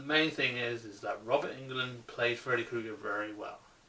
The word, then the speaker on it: Englund: but the problem is Robert Englund, or England, whatever you want to pronounce his name. I pronounce it Robert Englund.